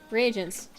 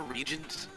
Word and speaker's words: reagent: Reagents. Weird. I call them reagents, and I know so many people that are like, yeah, they're regents.